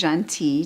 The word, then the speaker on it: Gentille: My name is Jean-T. It's spelled Gentille.